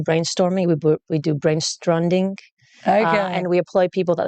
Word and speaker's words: Stronde: like it on demand it is pronounced strandi because of that acronym element but we do use